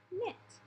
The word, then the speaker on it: knit: just say nah so the W the K and the G are silent okay so the first